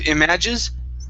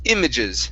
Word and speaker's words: images: word images right here instead of images it's images stress at the beginning images okay nice job nice